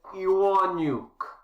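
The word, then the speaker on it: Ewaniuk: name is harry harry my family name is iwonyuk that's spelled e-w-a-n-i-u-k i am from ukraine i live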